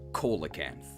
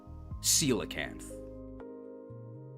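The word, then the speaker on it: coelacanth: being a rock type, I thought that you would read this as colacanth, you know, cuz coal is a rock. But no, but no. But no, the scientifically accurate way to pronounce this is in fact celacanth.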